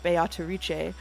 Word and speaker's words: Beatrice: how to pronounce uh beatric because not only will I acknowledge that the Japanese uh actors are saying biche I will say that uh the Japanese pronunciation is based on Italian pronunciation which I checked ahead